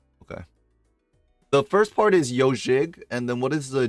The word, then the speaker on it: Ezhik: Uh, it's pronounced yojig sounds like garage. Yojig means a small hedgehog.